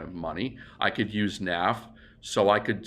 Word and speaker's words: Naf: the word Naf well Naf isn't a real word but Naf n a f when you say it fast and you pronounce that it sounds like and a half so when you say